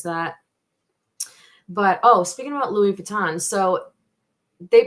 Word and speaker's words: Louis Vuitton: obviously hear it pronounced Louis Vuitton and then I did hear Luis Vuitton so um I'm gonna stick with I'm gonna stick with the Louie but I did hear the Louise um let's see what